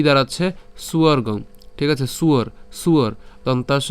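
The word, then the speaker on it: স্বর্গং: এটা হচ্ছে অন্তস্থব আর অন্তস্থের উচ্চারণ কার মত হয় উর মত হয় তাইলে উন এবং যে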